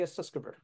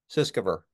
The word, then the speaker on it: Sutskever: I don't even know how to pronounce his name. How do you say it? Ilya The Sutskever. Sutskever.